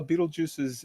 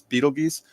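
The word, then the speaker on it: Betelgeuse: and there's I know there's going to be some pedantic people out there going um actually it's Beetle geese no actually it's both pronunciations are are correct so uh yeah so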